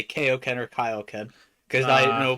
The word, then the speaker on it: Kaioken: It's Kaioken.